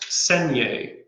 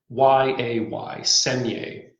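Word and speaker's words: saignée: of making wine uh an old french method and it's pronounced seniae think of it like s-e-n-y-a-y segne so when you make wine in the senior method you start making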